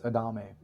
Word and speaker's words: Adame: we go further how do you say your last name it's adame adame okay uh and you you